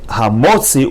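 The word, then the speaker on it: הַמּוֹצִיא: And this is another popular word that is often mispronounced. Instead of saying Hamotzi, we should say Hamotzi.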